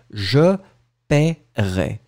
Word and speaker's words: je paierai: So first one, remember how to pronounce it, it will be je paierai. So in fact, this E in the middle is totally mute, je paierai, je paierai.